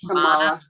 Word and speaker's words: Kamala: I think that Harris, Kamala, how do you pronounce her name? Kamala Harris. Kamala.